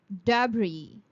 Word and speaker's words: debris: There's no X in the sound of first S, so you would pronounce it as espresso. The next word is debris. Dabri.